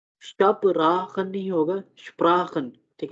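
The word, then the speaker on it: sprechen: सो Sprachen, अब अच्छा, अब अगर एस और पी अगर इकट्ठे हो किसी भी जगह पे, ठीक है, तो हम उसको श और पा का जो है साउंड जो है दोनों को कंबाइन करके जो है ना हम प्रोनाउंस करेंगे, ठीक है। अब उसको शपराखन नहीं पढ़ेंगे, श और पा का मतलब ऐसा समझें कि आधा आधा साउंड जो है ना वो लेना है हमने, शपराखन, ठीक है।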